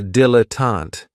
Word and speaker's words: dilettante: Another great noun, which is another one of my favorites, is a dilettante, and this word has 3 syllables. And there's kind of like a stress on that first and last syllable.